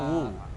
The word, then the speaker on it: Wu: Marga gua tuh Hu, pakai H. HU. HU. Nah, cuma Bacanya Wu.